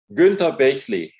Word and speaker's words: Günter Bechly: Günter Bechly would be the German pronunciation, but that's a bit strange sounding for Americans probably.